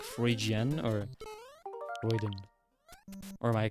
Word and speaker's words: Freudian: Is it like Freudian or Freuden? Or am I completely wrong? Because I've seen it written several times, but... Freudian. Okay, there you go, thank you. I had a Freudian slip when I was playing Twilight Princess.